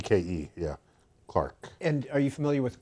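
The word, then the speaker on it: Clerke: to do Agnes clerk it was probably pronounced Clark but it's it's spelled c l r k c ke yeah Clark and are you familiar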